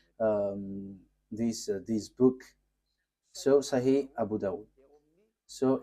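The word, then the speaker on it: Sahih: So in that hadith there are um few books and in these books there is a writer uh Sah Abu Dau. So it is spelled s a h i h s a h i h.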